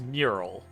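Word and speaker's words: Muiral: mural it's a mirror Muriel mural I URL it's it's real it's weird because it's spelled like Muriel right but the the pronunciations that I've seen watsi staff use is mural all right then that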